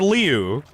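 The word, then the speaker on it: Liu: just called Jeff brother Leu and no I did nobody corrected me why did nobody tell you nobody told me so CU it's l i u but I guess the I is silent I don't know it's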